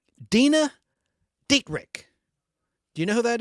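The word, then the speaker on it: Dena Dietrich: I don't know how to pronounce her name. Dina Dietrich. Do you know who that is? Dina, D-E-N-A, D-I-E-T-R-I-C-H. Dina Dietrich.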